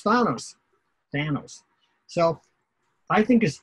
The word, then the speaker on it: Thanos: Or is it, it's not Tahanos, so he's not Greek, right? Tahanos? No. Okay, so he's Thanos.